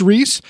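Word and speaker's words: Rhys: And his name does not look like it should be pronounced Reese, but his name is Reese because he's Welsh, and they pronounce things really weird there.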